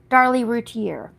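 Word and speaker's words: Darlie Routier: Darly Rutier.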